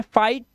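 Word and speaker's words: fight: गया फाई क्योंकि आई की आवाज देनी है फाइट और जी एच साइलेंट तो फाइट नाइट है ना लाइट माइट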